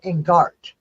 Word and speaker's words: Ingart: When they were over in Ireland, their name was Ingart, pronounced Ingart. But when they were here, it was changed to Inyart because people, I guess, had a difficulty saying or recognizing how to say Ingart.